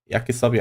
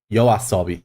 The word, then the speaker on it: Yoasobi: Yeah, Yakisobi, I'm pronouncing. Yaisabi. No. Yoasobi. Yeah, Yoasobi.